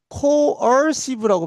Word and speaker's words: coercive: 그 개념은 정치학적 파워, 힘의 개념은 coercive라고 발음해요.